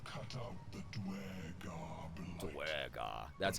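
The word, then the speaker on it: duergar: Dwergar.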